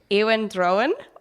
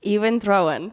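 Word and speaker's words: Iwan Rheon: His name is Ewan Drowan.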